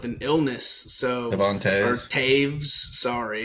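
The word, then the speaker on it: Toews: illness so Devon or Taves sorry it's spelled t o e WS Taves uh that's the one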